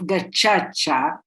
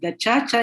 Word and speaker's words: Gacaca: Tracing the revival and practices of Gacaca, because in Kinyarwanda, which is the language spoken by Rwandans, C is pronounced like in Italian, Chacha. So tracing the revival and practices of Gacaca in post-genocide Rwanda.